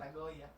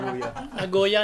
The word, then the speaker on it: Nagoya: kasama mo sa Japan saan sa Japanag sa Agoya Agoya Agoya daw saabotas yun ago nagoya nagoya agoya ago ang pagpronounce doon nagoya iba ba yung Nagoya m